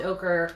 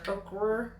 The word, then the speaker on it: ochre: tone this is soft ochre okra poker how do you say it okay is it is it oh is it okay you are know it's o-c-h-r-e oh it's not occur sorry guy i was